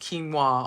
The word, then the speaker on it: quinoa: But many will not be familiar with quinoa pronounced well it's spelled qu u i n o but it's pronounced quinoa although it is one of the healthiest and oldest foods around.